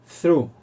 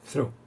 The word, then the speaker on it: through: d como es th la th se pronuncia con ese como nuestra Z algo parecido a nuestra Z española es decir acabado en est es una pronunciación compleja through Time tiempo hora para